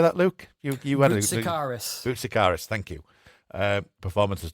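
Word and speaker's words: Boutsikaris: Dennis Busaris. I can't How do How do you say that, Luke? You you Bicaris.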